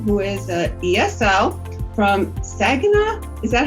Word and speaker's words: Saginaw: So I've invited Amber Perrin, who is an ESL from Saginaw. Is that how you pronounce it, Amber?